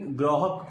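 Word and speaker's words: grok: का वर्ब है और इसका प्रोनंसिएशन ग्रोक होता है और यह एक पुराना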